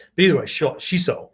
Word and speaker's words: shiso: punching kicking yes okay the proper word is shiso shiso we would spell it s-h-i-s-o long o uh but it could